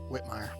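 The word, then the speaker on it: Witemeyer: The Fairest Heart by Karen I don't know how to say her last name, Whitmire.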